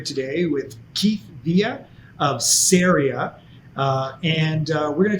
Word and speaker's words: Ceria: you right there because i've struggled with the pronunciation of the name and it is syria um but i'd love